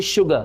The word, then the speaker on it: sugar: चौंकाने वाली बात है कि यहाँ पे वर्ड स्टार्ट होते हैं एस लेटर से, पर उनका प्रोनाउंसिएशन किससे आ रहा है? उनका प्रोनाउंसिएशन जो साउंड उनका आ रहा है वो शा आ रहा है।